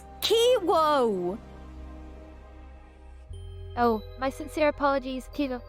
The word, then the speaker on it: Kiwo: right this time okay i w o kiwoo well hello there my charming and Enigma kiwi